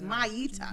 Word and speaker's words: Maita: It's the A before the I. The A before the It's not I. Miata. Maida. It's not the car. It's Maita. Maida. Miata. Maita. Miata is the car.